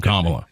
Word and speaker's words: Kamala: I'm Kamala.